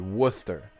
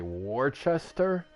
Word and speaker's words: Worcester: we got but yeah number seven is actually Worcester but everyone will say Worchester and I'm like where is the H bro there's no h why are you calling